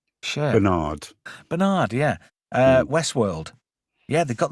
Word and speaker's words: Bernard: Bernard Abbott from the Bernard. Why do Americans say Bernard? It's Bernard. Bernard.